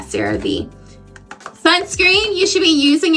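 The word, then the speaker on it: CeraVe: Sarave or is it Sarah Ve? I think it's Sarah. Yeah, cuz I always say Sarave. I always say it wrong. Yeah, Sarah Vee.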